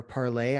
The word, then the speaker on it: Parler: There's also Parler, or Parlay, I guess is how it's actually supposed to be pronounced.